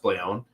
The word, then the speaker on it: Blay1: Like my last name is spelled Blay1. It's not pronounced Blay1, it's pronounced Blayon.